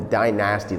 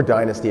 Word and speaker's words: Dynasty: I've got the Covert line and the die-nasty line or Dynasty if you wanna pronounce it properly, and I don't.